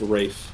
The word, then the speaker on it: Ralph: Rich lady hires Voldemort Ralph Vienna yeah yeah Ralph uh did you know that say what it's actually pronounced Rafe Rafe is it race